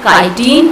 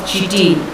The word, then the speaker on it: chitin: Third characteristics, their cell wall is made up of tough and complex sugar called as the chitin or chitin. Both pronunciations are correct one.